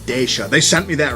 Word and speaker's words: Decha: wanted to ask them i said how do you pronounce it they said dasha they sent me that